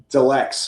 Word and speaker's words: Delex: Deluxe. And, if you say it fast enough, it sounds like deluxe.